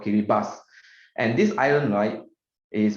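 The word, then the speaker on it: Kiribati: the island it's called kiribas yeah the the pronunciation is called kiribas and this island light is very interesting it's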